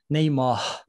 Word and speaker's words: Neymar: Like with R or like with H? R. Neymar.